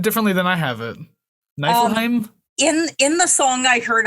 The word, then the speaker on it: Niflheim: Now, how'd you say this pronounced? Because you said it differently than I have it. Niflheim?